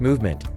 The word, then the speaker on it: MVMT: In case you didn't know, the name of the brand is pronounced Movement.